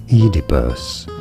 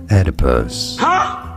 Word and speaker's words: Oedipus: In British English it is said as Oedipus. Oedipus. In American English, however, Oedipus.